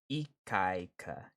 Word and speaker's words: Ikaika: It's pronounced Ikaika. Ikaika. Like that? Ikaika?